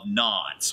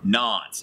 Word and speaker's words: Nantes: 1598 Henry issues the Edict of kns or not however knots it's a written test so that's how I'm going to say it the Edict of knots